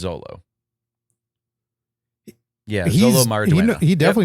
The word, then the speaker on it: Xolo: Yeah, Xolo. Yeah. Maraduena? Yes, but his name is Zolo.